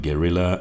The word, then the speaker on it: Guerrilla: the word Gilla Gorilla is almost indistinguishable from a gorilla meaning I'd constantly be fighting the urge to tell people that I ride a Royal Enfield Guerilla as in a member